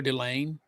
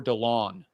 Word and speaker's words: Delane: Mansour Delane. Yes, that's how I pronounce. He said Mansour Delon on TV.